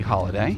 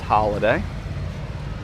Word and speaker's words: Holladay: Is it pronounced holiday or holiday? Probably holiday. It's HOLLADAY. So probably still pronounced holiday.